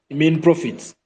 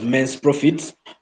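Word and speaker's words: mesne profits: Now, if you go to court and you are not seeking what we call main profits, Somebody will pronounce it as men's profits, but these are basically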